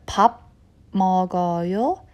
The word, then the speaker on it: 밥 먹어요: Okay, here I pronounce the 밥 as 밤 because it ends with the b, b consonant and begins with the m, m consonant. So the sound sort of changes because I want my tongue and my mouth to be able to pronounce the next consonant, m sound. So the instead of 밥 먹어요, it's pronounced as 밥 먹어요.